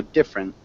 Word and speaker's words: different: diagnosing um different different post that middle e is silent really so different different different nice communicate